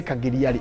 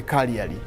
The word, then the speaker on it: Cagliari: So there are people who don't know how to pronounce the word Cagliari. They will say Cagliari. In Latino, the G is silent. So you go for the Cagliari.